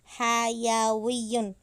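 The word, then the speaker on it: حَيَوِيّ: Nah, sebelum waw harokatnya harus fathah. Jadi bacanya hayawiyun.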